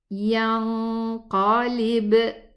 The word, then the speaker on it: ينقلب: We're gonna hide the noon sukoon into the qaf. Let's go to the exit of the qaf and pronounce the gunna. ينقلب. Again. ينقلب.